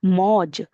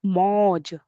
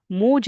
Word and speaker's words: मौज: मौज। कैसे उच्चारण करेंगे? मौज, मोज नहीं, मौज।